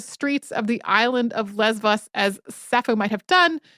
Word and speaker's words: Lesbos: I also love the Greek spelling / pronunciation of Lesbos there, because it's definitely a B in English, but apparently if you go to Greece, they will insist that that is not a B.